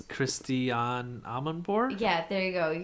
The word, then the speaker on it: Christiane Amanpour: A very famous news anchor, and I'm going to pronounce her name wrong, so Joe, you do it. It's Christiane Amanpour?